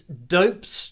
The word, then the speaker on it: Dopez: And this is Dope's, but it's spelled D-O-P-E-Z, so like Dopez, but Dope's.